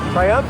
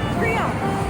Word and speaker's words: Triomphe: Triumph, is that how you say it? Triomphe, Arc de Triomphe.